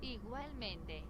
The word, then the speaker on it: igualmente: Igualmente. Igualmente. Igualmente. Igualmente. So the I, similar to Japanese in pronunciation, it's an E sound.